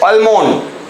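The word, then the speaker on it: almond: he must not crush अमंड या अमंड बोलते हैं उसको अमंड उसमें भी एल भी साइलेंट होता है वी मस्ट नॉट क्रश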